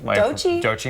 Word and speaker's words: Doechii: Artists like Olivia Rodrigo, T-Pain, Doechii. Doechii, am I pronouncing that right?